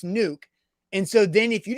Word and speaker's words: Nuk: So Zach gets what he needs, and you don't look like an idiot for asking the Nuck or Nuke, because it's obviously Nuke.